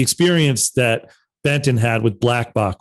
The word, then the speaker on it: Blkbok: that Benton had with Blackbach, which by the way is spelled BLKBOK, who's just a brilliant artist.